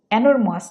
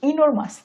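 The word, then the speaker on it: enormous: এটার ইংরেজি হচ্ছে ইনোমাস ইন অ্যানোরমাস না এটার ইংরেজি হবে ইনোরমাস ইনোমাস ইনোমাস ইনোমাস পরের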